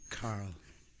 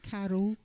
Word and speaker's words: Carl: I'll pronounce it properly. Carl. Carl. Carl. It's not Carol. Carl. It's Carl.